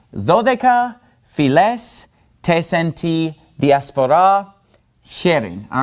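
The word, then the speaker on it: φυλαῖς: And so this is going to be pronounced tes dodeka philes tes enti diaspora cherin. All right, so all of those alpha iota diphthongs are pronounced like epsilons, okay?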